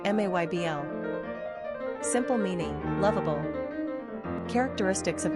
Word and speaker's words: Mabel: Pronunciation, Maybl.